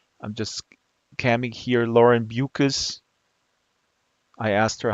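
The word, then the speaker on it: Beukes: just caming here Lauren bucus I asked her how do you pronounce your last name she says bucas rhymes with mucus and over here is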